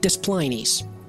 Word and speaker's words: Des Plaines: So in the town of Des Plaines, Illinois, it's spelled like Des Plaines.